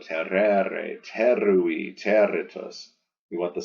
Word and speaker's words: terrere: part in the air that's a long e because it has the ao tereo terrere terui territos you want